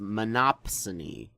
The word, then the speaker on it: monopsony: saying it fast and it's actually pronounced monopsony with a P my spell check thought